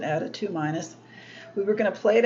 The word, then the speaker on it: ade2: We were going to plate out dilutions of the red ADA2- yeast, ADE2-, usually we just pronounce it ADA2-.